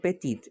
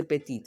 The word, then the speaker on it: petite: end with a vowel when there is a word that does not end with a vowel okay the word is pronounced up till the second last word okay after the second last alphabet that is p e